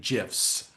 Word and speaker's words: GIF: And just for the other people, fans have also made GIFs. I was waiting for that. Thank you. That's Yeah. and not Jif the peanut butter. This is Right. GIF.